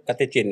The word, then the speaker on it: katekin: Iya, katekin tulisannya, sebenarnya bacanya katechin ya.